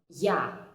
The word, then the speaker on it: я: A, ya. You can see that ya basically consists of the consonant y and the vowel a, and my lips remain in the same position for the both of them.